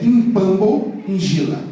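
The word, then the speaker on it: Pambu Njila: E um orixá, me perdoe, um inquice chama-se Pambo Injila. Se escreve P-A-M-B-U, Injila, N-J-I-L-L. Para os angolanos e para os congoleses é Impambo Injila.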